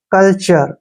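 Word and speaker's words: culture: आप देख सकते हो टी के बाद यू आर ई आया है तो टी को जो उच्चारण है च कर रहे हैं ठीक है ना कल्चर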